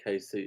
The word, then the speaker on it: Casey: Casey is pronounced KC.